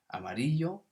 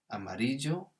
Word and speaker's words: amarillo: Amarillo, the double L can be a Y sound, a J sound, or a sh sound. So you might hear amarillo, amarillo, or amarillo. All of those are perfectly correct native Spanish pronunciations of this word.